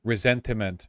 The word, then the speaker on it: ressentiment: Resentment is the English word. Resentiment is how people pronounce it in order to distinguish the Nietzschean version of the concept.